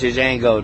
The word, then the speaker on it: Django: How could you have a silent letter before? He said my name is Django. The J is silent. The D is silent. Django, yeah.